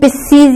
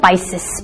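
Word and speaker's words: Pisces: इट may gate two types of pronunciation, पिस्सीज या पाइसेस, पिस्सीज या पाइसेस।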